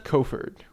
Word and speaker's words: Kofford: Because you said Crawford earlier. I totally just got Mandela just now. Like, been adding an R there for the longest time.